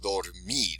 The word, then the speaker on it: dormir: The word dormir, it ends in an R. It's a consonant, so we know it's going to be the last syllable. So it's going to be dormir.